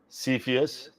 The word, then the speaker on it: Cepheus: and click here there you go so it's pronounced cepheus okay just so we know and moving forward